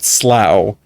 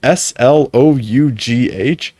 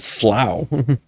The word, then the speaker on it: Slough: it's spelled s o s l o u GH and so I was like it's Slough right because I was thinking like tough so it's it's it's Slough but apparently it's called slow tell's names after underwear